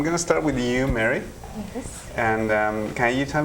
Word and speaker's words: Mary: In French, we pronounce it Marie.